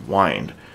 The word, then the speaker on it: wind: know actually no um a lot of poetry from the early days would that have words that would rind with law sorry rhyme with the word wind but it was pronounced wined and what I do